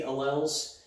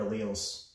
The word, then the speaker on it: alleles: I've always heard it pronounced alleles. It looks like it should be alleles. And there might be some parts of the country where they say it that way, but in Oklahoma and Texas, I've only heard alleles.